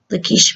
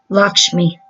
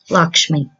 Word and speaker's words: Lakshmi: ways so let's see Lakeisha me let's make sure I pronounce it right it's pronounced Lakshmi Lakshmi okay something keeps feeling